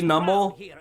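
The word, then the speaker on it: Numel: It's officially Nummel.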